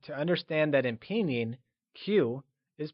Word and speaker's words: 起: Before moving on, recall that in Mandarin, Q is pronounced with a ch sound. Qi is pronounced using the falling, rising tone.